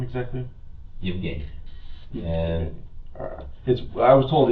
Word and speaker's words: Yevheniia: And how do you pronounce her name exactly? Yevenhia.